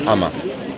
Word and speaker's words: anma: Yeah, that's because people don't understand that you write it with an N, ANMA, but you don't pronounce the N.